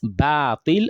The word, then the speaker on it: باطل: It's not batil, it's batil. When you say batil, you are pronouncing alif as an heavy letter, and it shouldn't be so. It should be pronounced lightly because the letter before it is a light letter.